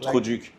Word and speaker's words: trou du cul: oh, Like- trou du cul. Huh? Trou du cul. Could you kill? Trou du cul. Could you kill? You pronounced it well.